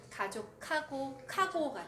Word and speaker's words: 가족하고: 근데 히읗이면은 가족하고가 돼요. 근데 너무 카고 이렇게는 안 하는데 한국 사람들 얘기하는 거 들어보면 가족하고 이렇게 약간 크 발음이 나와요.